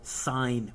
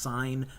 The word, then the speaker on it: sine: a H T oh the S stands for sine which is one of the buttons on your calculator it's pronounced sine not sin sin is when you call sine